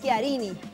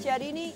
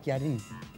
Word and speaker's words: Chiarini: La CH se pronuncia Chi. Entonces es Chiarini. Yo lo escuché muchas veces Chiarini y lo voy a seguir corrigiendo.